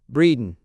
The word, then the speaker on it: Bredon: pronounced breeden xxi.